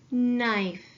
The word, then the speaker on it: knife: at the word knife I'm going to underline my ghost letter digraph and I'm gonna cross out my ghost letter I see at the end of this word is a silent e I'm gonna cross out my silent e the e is going to sneak up behind the consonant and make the eye say its name make its long vowel sound so it's gonna go